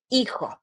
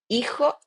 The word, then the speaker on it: hijo: pronunciation for the H, we never pronounce the H if it's at the beginning. So we say hijo, hija, hijo, hija.